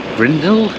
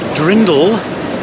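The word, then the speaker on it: Dirndl: And also I've just found my first girl wearing a traditional grindel. Is that how they pronounce them? Grindel? Okay, firstly, the word is drindel. That's the traditional Bavarian dress.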